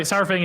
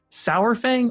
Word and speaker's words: Saurfang: so so cool and do you say saurfang or sarfat personally sar but like i say dinosaur